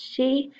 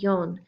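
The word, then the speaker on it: 四: example the number 4 we know that it is pronounced in different ways is pronounced she and Yan if I type in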